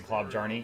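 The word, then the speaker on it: Klobjarne: I actually can't read it any other way than Klobjarny, even though I know how it's supposed to be said.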